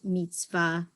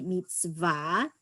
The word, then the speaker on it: mitzvah: of bar and bot mitzvah and by people say mitzvah because that's kind of an american or ashkenazic way of pronouncing the word but it's really meets va meets va and although if you